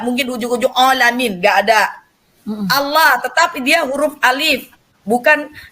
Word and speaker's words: Allah: terus pathak tidak menjadi Allah Kayak orang is orang apa di Indonesia ya tetap orang sana Allah cuman lemnya itu double l nya itu double jadi pengucapannya seakan-akan kita mendengarkan itu seperti ooooooh enggak Ya Allah